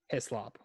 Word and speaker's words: Hislop: Shaka Hislop. Hislop, like with an I?